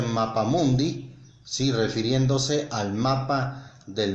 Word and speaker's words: mapamundi: marta no se dice mapa mundo si no se dice mapa mundi si refiriéndose al mapa